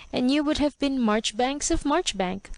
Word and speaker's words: Marjoribanks: trifling or romantic suggestion Tom too could remember marchbank and his uncle's interest in it and the careful way in which he explained to the ignorant that this was the correct pronunciation of his own name while Lucilla made her